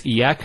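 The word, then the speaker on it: إياك: Notice the ya gets a double vowel because of the shadda there.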